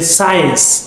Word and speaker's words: science: scenes yes and then science the word science we have number eight science s-c-i-e-n-c-e yes so this yes C yes it's science yes yes then we